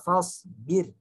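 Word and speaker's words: فاصبر: Nah, birnya kalau seperti ini dibacanya tidak diayun ya, Fahri. Wali rabbika fasbir. Birnya tipis.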